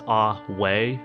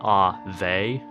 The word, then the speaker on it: Ave: I'm pretty sure it's ah-way, not ah-vey. I don't know where I got the V. I think I just made it up.